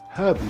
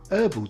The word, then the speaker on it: herbal: Brits drink herbal tea and Americans prefer herbal tea.